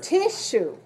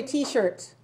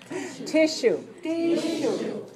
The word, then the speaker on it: tissue: structure very nice structure tissue tissue be careful don't say t-shirts tissue good all right let's look